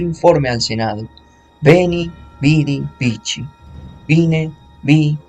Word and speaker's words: vici: videre y el vincere, que su pronunciación relativamente literal sería vedi, vidi, vici, ya que en latín